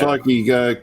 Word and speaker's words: Shloky: But the spelling is more like SHLOKY, Right. not with an I, with a Y.